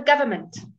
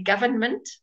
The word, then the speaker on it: government: damn him okay however if the M and M are together in a word and the N comes before the M you don't say the end that's a nice rule to remember for pronunciation so government if you ever hear anybody say government let me know I would I would love that would be very funny okay all right Aurora